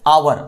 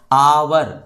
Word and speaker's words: hour: तो हिंदी में उच्चारण कैसे करेंगे? आवर। अभी मैंने इसको क्या उच्चारण किया? आवर, आवर। तो सबसे पहले मैंने आ का उच्चारण किया ना।